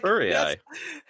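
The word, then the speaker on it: Furiae: just messaged me going furry eye. Yes. I'm like furry eye. That that that's how it is pronounced.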